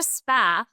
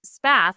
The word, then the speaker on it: Spath: Spa, which is a happy coincidence that most people thought my channel's name was Path, but my last name is just Spath.